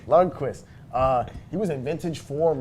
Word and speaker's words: Lundqvist: Henrik, how do you pronounce his name again, guys? I'm Lundqvist. sorry. Lundqvist. Guys, I'm new to the hockey game. I'm learning the name. Lundqvist.